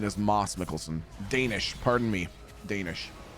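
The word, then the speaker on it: Mads Mikkelsen: And uh the same way that apparently you know Mads Mickelson. Yeah. His name is actually Moss Mikkelson. That's how you pronounce pronounce because it's Dutch.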